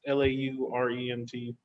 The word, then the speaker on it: Laurent: It's made by French director Mélanie Laurent. If I mispronounce that, it's Laurent.